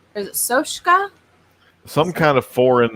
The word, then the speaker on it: Soska: Sylvia and Jen, is it Soka or is it Soshka? Some kind of foreign name. It's Soska. I can never pronounce it correctly.